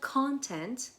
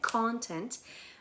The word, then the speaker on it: content: به عنوان adjective تلفظش هم متفاوته با nounش. nounش میشه content، استرسش روی اوله content، ولی وقتی میخوای بگی یه نفر happy، satisfied یا راضی هست میگی content. تلفظش یعنی استرسش میره روی بخش دوم.